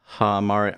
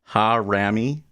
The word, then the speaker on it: harami: Hamari. I forget how to say it. I forget how it's even spelt. Harami.